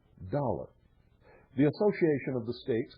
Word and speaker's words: thaler: The common coin of the realm was actually a Dutch thaler, which over the years became pronounced dollar.